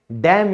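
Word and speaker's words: damn: फिर है डैम यू, यानी कि लानत है तुम पे, यानी कि इसमें भी एन हमारा साइलेंट हो गया।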